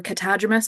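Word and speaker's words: catadromous: You might notice that silly word, the catadromus or catadromus.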